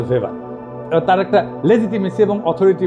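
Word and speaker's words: Weber: আরেকজন দার্শনিক আছে ম্যাক্স ভেভার এটা ওয়েভার বলে অনেকে এ উচ্চারণ আসলে ভেভার তার একটা লেজিটিমেসি এবং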